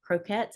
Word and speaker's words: croquettes: guys so I just had H salmon cro Croquettes I think is how it's pronounced and they were absolutely delicious and typically